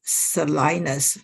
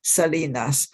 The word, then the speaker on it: Salinas: If you are an American, you would say he lived in Salinas, but if you're a Mexican living in California, you would certainly pronounce it Salinas.